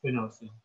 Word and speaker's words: spinosad: like spinosad but um i think the correct pronunciation actually is spinosum and it also affects